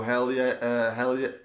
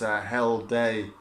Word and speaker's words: Hjelde: And of course, apologies if I've said his name wrong, but I do believe it's Hjelde. That's the way it's pronounced.